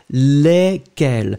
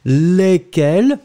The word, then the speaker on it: lesquels: Of course, you will pronounce it exactly the same way, in fact. As I said previously, remember this E-S after your L will be pronounced E, lesquels. So in fact, whether it's the feminine form or the masculine form for the plural, it's exactly the same pronunciation.